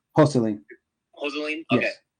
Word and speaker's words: Joselin: Joseline. Joseline? Yes. Okay. Joseline, I'm going to give you 10 grand or